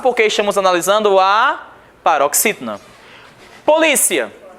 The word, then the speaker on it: polícia: Polícia, paroxítona, porque terminada em ditongo. Então nós temos última, penúltima sílaba e é a mais forte.